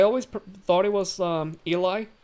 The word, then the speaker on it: Eli: Took me a long long ass time to realize that the name with E L I It's not pronounced Ellie. It's pronounced Eli.